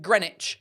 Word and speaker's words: Greenwich: Um Catherine says the W in Chiswick Greenwich gets dropped simply for ease of pronunciation and speech.